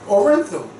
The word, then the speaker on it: Orenthal: Orenthal. It's pronounced Orenthal.